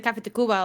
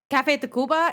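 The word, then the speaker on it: Café Tacuba: Yeah, like I still listen to I listen to Cafe Tacuba a lot, and whenever I play them, Wait, listen to who? Cafe Tacuba. It's spelled TACV.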